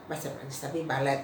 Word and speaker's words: balet: sudah Lalu ada bale-bale itu balet ya tapi itu bacanya Bale nah lalu kudeta nah